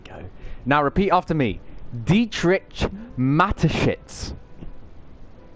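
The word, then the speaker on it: Dietrich Mateschitz: Dietrich matshits. Dietrich matshits.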